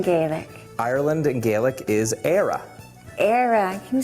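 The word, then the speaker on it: Éire: say Ireland in Gaelic Ireland in Gaelic is era era can you say era ER we're going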